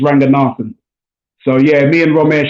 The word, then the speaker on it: Ranganathan: um and not nathan a lot of people on tv say ranger nathan he's his family from sri lanka and the correct pronunciation is ranganathan so yeah me and